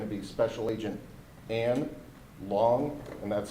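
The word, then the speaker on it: Luong: the field office in New Orleans for the FBI is going to be Special Agent Ann Long, and that's spelled A-N as the first name, and his last name is L-U-O-N-G.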